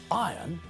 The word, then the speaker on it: iron: we pronounce the word we don't pronounce the letter R when we say iron it sounds exactly the same as the word iron if we meet the actor Jeremy Irons we don't say hello mr.